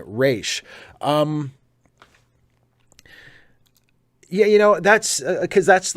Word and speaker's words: Ra's: And of course, for some reason in Batman Begins, or in the Nolan trilogy in general, they pronounce it Raz instead of Raish. But I like Raish.